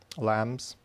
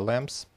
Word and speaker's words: lamb: Sticks это палки, lambs, ягнята, and leaves это листья. Sticks, leaves, да, в лесу есть sticks, leaves, а lambs здесь ягнец, Lamb. You don't pronounce B here.